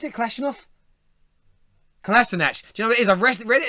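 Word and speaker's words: Kolašinac: and make runs inside, pairing with Lacazette, with Kalashnikov. Do you write Kalashnikov? It means Kalash. Yeah, I'm sorry, you've written his name wrong, so I really just put it filling in the space in a 4-3-3.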